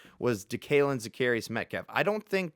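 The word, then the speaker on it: DeKaylin: by DK Metaf that he actually prefers to go by Dealin. He DK did say he prefers Dalin, but he changed it to DK because everyone kept mispronouncing it.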